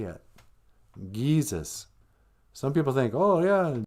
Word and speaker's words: GIIZHIGAD: G's are pronounced Gi. GIIZHIGAD. So I don't know why I'm sounding so annoyed.